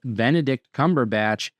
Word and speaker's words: Benedict Cumberbatch: And then both of his names have three syllables. It's Benedict Cumberbatch as the necromancer of dollor and smow in the hobbit as well as of course Dr.